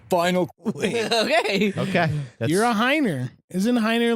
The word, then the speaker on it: Heiner: Anyway, I remember Like the wiener.